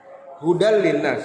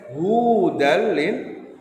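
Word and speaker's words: هُدًى لِلنَّاسِ: ada panjang di dalam kalimat terlihat tidak ya anakmu hudallinnas Hai namun kalian membacanya wudal Line di Nah itu ada kalian panjangkan membacanya dan ini tidak boleh fatal sekali kesalahan yang fatal berikutnya terakhir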